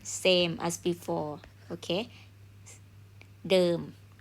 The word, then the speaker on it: เดิม: to walk เดิน okay if I change to the and then I change to m so this one pronoun เดิม mean same as before okay เดิม like ที่เดิม same place